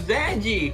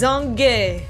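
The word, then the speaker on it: Zange: yeah zanji or zanji we thought it was G and the e was silent kind of thing or like the E accentuated the G but nope it's zong all right now we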